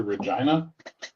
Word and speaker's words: Regina: I'm actually thinking in a year or so about relocating to Regina. The town that rhymes with fun.